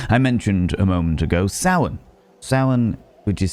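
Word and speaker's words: Samhain: the Celtic people I mentioned a moment ago Sin Sin which is spelled like this saan is a tradition of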